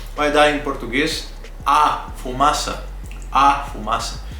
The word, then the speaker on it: fumaça: Fumaça se escreve com C cedilha, né? Você sabe que é a letra C com uma pequena perninha, como se diz, né? Uma cedilha. Então, C cedilha, fumaça.